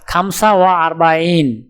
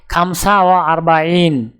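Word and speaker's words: خمسة وأربعون: উচ্চারণ হবে খামসা ওয়া আরবাইন। তাহলে 45 ক্রমিক সংখ্যাটির আরবি উচ্চারণ হবে খামসা ওয়া আরবাইন।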